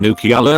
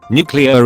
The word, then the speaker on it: nuclear: look like an idiot its nuclear not new Keala reddit nuclear is how it should be pronounced you can also get someone on board easily by showing them it sounds like nuclear bTW Jimmy Carter served